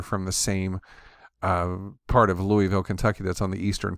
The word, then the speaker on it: Louisville: And finally we spoke to each other, and sure enough, he was a Louisville native, they pronounce it Louisville.